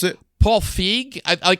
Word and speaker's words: Feig: you pronounce it Paul feig I pronunciation key and he had said fig so I'll say it that way tonight looking at his